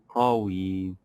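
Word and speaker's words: قوي: We have also the word qawi.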